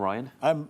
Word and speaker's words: Ryan: Well, yeah, well, Brian and Ryan has to rhyme with Iron, apparently.